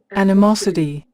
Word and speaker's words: animosity: Again, we have O, pronounce A. Animosity, animosity, animosity. And also T pronounce something like D, maybe more D than T. There is a sign behind of T here. Animosity, animosity. This is an not ani, but an, an. It is a sound schwa. An, and the accent. We have accent on third syllable.